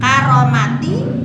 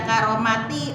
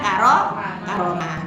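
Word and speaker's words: كرامة: Karomati jangan dibaca karomati, tetap karomatin dibacanya karomah.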